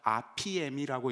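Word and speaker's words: ἀφίημι: 이거 아피엠이라고 읽는 겁니다.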